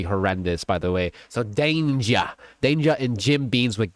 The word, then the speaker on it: Danja: I pronounced it wrong. It's Danger.